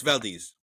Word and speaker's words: Valdez: The Exxon Valdez oil spill. Valdez. Nuts. It's Valdez. It's Valdez. It's a Hispanic last name.